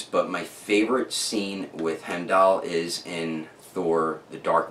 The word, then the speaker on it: Heimdall: I always thought his name was Heimdall, but it's pronounced Heimdall, which I recently learned from Shardimus Prime watching his review of this figure here.